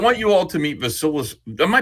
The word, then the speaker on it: Vasilis: girl I don't want you all to meet vilus am I pronouncing it right Loos yeah you're pronouncing it